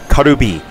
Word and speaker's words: カルビ: Here in Japan, it's pronounced Karubi, which comes from a Korean word for rib.